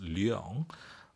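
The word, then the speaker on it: Liang: getting confused why is spelled l i a n g and pronounced Leong I started to spell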